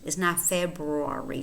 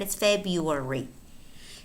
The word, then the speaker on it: February: is for lovers every February listen to the pronunciation of the word February February see the earth disappears is not February although you could take that worried but it's Febuary every February 14th Vaughn and Verna celebrate Valentine's